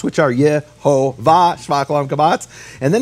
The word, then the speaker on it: Yehovah: Like that's just the facts we can all agree on concerning the vowel shvach olam kamatz, which are Yehovah shvach olam kamatz.